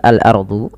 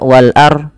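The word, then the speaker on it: الأرض: Jangan sampai tidak membacanya. Tidak membaca apa? Tidak membaca huruf dotnya. Sering keliru atau bukan ya, sering salah adalah dia hanya membaca wal ar. Tidak ada huruf dotnya, padahal dia harus dibaca wal ard, wal ard, wal ard, ya, wal ard.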